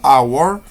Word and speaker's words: hour: Por ejemplo, si la H es una H muda, como en el ejemplo 3, que se pronuncia our, entonces la tratamos como una vocal, ya que la H en este caso no tiene sonido, ¿cierto?